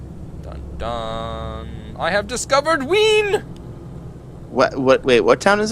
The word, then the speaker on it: Wien: I have discovered Wien. What? Wait, what town is it? Wien. Wine. Win. Spell it.